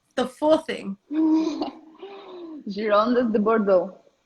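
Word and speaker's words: Girondins de Bordeaux: Gironde de Bordeaux. And that's the way you say it in French? Yeah.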